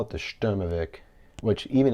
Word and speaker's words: Sturmovik: we call it the sturmovic which even its english uh spelling which you saw in the beginning the s-t-u-r-m-o-v-i-k doesn't even give the proper pronunciation of the stermovic and it was never